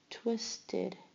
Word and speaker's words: twisted: Twisted. Twisted. Twisted. The id at the end.